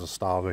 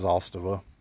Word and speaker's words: Zastava: in the back porch freaking pollen but the zostava as it's pronounced you know we we pronounce it as a stava here but it's actually pronounced zostava that's the connect pronunciation but nonetheless this is